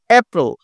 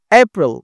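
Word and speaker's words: April: পুরোটাই blue colour করা এপ্রিল এপ্রিল দেখ এটাকে একটু জোরে উচ্চারণ হচ্ছে ঠিক আছে মে একবারে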